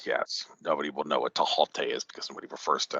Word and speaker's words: Thoth: It's not pronounced Thoth; it's actually pronounced Tahote because there is no th sound in the ancient Egyptian language.